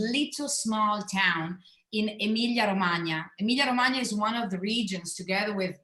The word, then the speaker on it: Romagna: in the middle, and Romagna, which is not that easy to pronounce because of that GN, in the name, is the southern part that is that has on the right side the Adriatic coast.